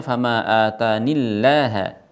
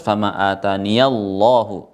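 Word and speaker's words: فَمَا آتَانِ اللَّهُ: Maka mereka membacanya fama atanillaha. Fama atanillaha. Kalau kita yang membaca dengan hafaz fama ataniyallahu, lamnya ditebalkan ya. Karena sebelumnya fathah. Tetapi kalau ya-nya dibuang menjadi bacaannya fama atanillaha, lamnya dibaca tipis.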